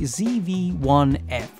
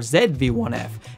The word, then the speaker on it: ZV1-F: at right now is the Sony zv1f or zv1f as people in my country try to get me to say but I'm not going to do it because Z rhymes with the alphabet this is a brand